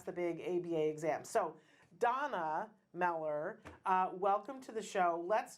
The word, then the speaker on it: Dana Meller: Okay, so I have been saying her name wrong. It's Donna Meller.